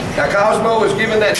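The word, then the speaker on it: Kozmo: I was saying, is Cosmo. We spell it a little bit different to give him something a little unique. K-O-Z-M-O. Now, Cosmo was given that name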